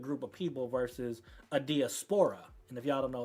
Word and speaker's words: diaspora: go ahead and ask Chat GPT what that means, because I use a 3-syllable. Diaspora? How you Yeah, say that? diaspora. That's 4 syllables.